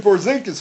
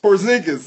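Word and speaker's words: Porziņģis: of yours he a great commentator Christian poris from the Knicks did I say his name right christs Chris poring porzingis yes thank you you're welcome Chris porzingis yes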